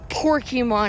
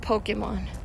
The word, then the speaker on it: Pokémon: Sorry, my friend told me that her mom said saying it wrong. Porkymon instead of Pokemon.